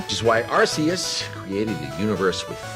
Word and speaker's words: Arceus: Pokemon Legends Arceus was probably a top 3 Pokemon game I've ever played for me, at least top 5.